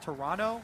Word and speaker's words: Toronto: All the options are open to them as they prepare to head to Toronto. I was told actually by a tweet, it's pronounced Toronto with no T.